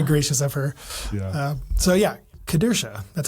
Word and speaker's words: Kedersha: podcast I'm sitting here with Scott and Kristen kadura welcome to the show guys thanks for having